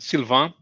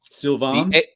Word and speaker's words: Sylvain: It's pronounced Sylvain. Sylvain. A-I-N. Desprez, because it's joining two words. The S would be silent, as it's an article, and it's an article in the plural. And pré ends in a Z, but turns into a circumflex.